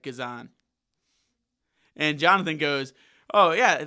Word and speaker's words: Guzan: loved that that chant he also said how to say his name correctly uh yeah it's it's good on Guzan Kazan Kazan Brad Guzan says his name is Brad Kazan and Jonathan goes oh